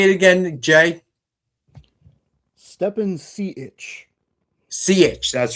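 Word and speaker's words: Stepan Šejić: Stepan Sejic.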